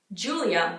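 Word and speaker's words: Giulia: sarah sarah sarah sarah julia it's not too different from how it's pronounced in english at least compared to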